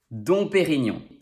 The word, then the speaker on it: Dom Pérignon: me number don perignon this one is fun because it rhymes although the song is spelled differently in both words the om spelling is very rare though remember that e with this accent sounds like e and g n is